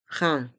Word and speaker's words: train: e B de train les lettres A i n font le son un train un billet de train